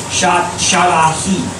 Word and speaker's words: Shaddai: Shaddai, it's actually in the Hebrew, it's pronounced Shaddahi. Shaddahi.